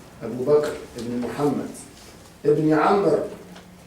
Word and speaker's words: عمرو: بكر ابن محمد ابن عمرو، عمرو تكتب بالواو، قالوا داوود تكتب بواو واحدة، وعمر تكتب بواو. تو عمر أنا مرة نضع واو ولا تنطق، ترسم ولا تنطق، وداوود بواو واحدة، قالوا سرق عمرو وداوود.